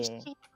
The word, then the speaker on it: Issie: ISSIE. Or like, it's pronounced like Yeah. Ishi in Yeah.